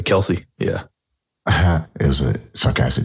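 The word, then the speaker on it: Kelce: so I'll sound stupid k-e-l-c-e you know I pronounce this last name uh Kelsey yeah it was a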